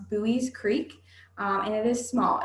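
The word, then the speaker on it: Buies Creek: The name of our town is pronounced Bowie's Creek, and it is small.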